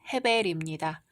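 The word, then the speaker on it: הבל: 이제 가인의 동생 아벨이 태어납니다. 히브리어 발음으로는 헤벨입니다.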